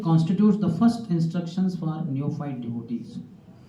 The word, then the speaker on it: neophyte: Those spellings are different. It is not N-E-O F-I-G-S-T. N-E-O neophyte. P-H-Y-T-E. But the pronunciation is same.